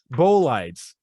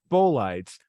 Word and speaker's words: bolides: that i learned about bolitis which if traveling at high enough speed will not how do you pronounce that bolides okay which is o b-o-l-i-d-e-s okay thanks bo lights which if traveling at